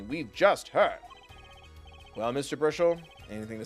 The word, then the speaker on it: Brushel: It's Bruchel, yeah?